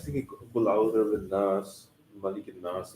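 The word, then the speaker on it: الناس: So the lam is not there, even though in Arabic the Al is there, the people, but when you're pronouncing it, you're combining those.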